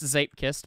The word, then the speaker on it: Zeepkist: Pronounced Zeepkist, but if you want to search it up, it's Zeep-E-P-Kist. Like it's isn't it two E's, not two P's?